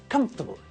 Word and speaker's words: comfortable: adverb from the adjective comfort the word looks like it also has four syllables doesn't it comfortably but again just like the word vegetable when we pronounce it it's only got three syllables in the same way as we do with vegetables we squat the middle of the word together it becomes comfortable so if you see